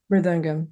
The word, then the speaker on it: mridangam: Now, first, did I pronounce that right? Mridangam, yeah.